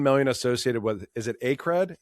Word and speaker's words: Acred: Over 13 million associated with, is it Acred? A-C-R-E-D? I say Acred. I think I've heard I've heard other people pronounce it differently, like Acred.